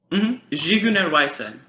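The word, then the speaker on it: Zigeunerweisen: Jiguner Weisen. Oh, I have to practice. Yeah, I had Matthew try to help me pronounce it yesterday, I just couldn't.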